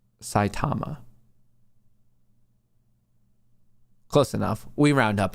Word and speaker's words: Saitama: Matt, it's pronounced Saitama.